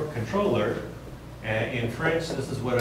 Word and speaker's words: comptroller: It would probably come from your firm's comptroller. Actually, it's pronounced controller.